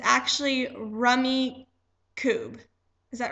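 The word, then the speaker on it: Rummikub: Rummy, wait, Rummy Cube. I think that's how you say it. We always said Roomy Cube when we were kids.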